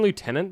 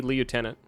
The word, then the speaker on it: lieutenant: No one would blame you if you say lieutenant. Actually, everyone would. That's fucking dumb. Never say that. In British English, it's pronounced like lieutenant. It's never pronounced lieutenant.